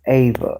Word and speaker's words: Eva: It's spelled Eva. Ava. But it's pronounced Ava.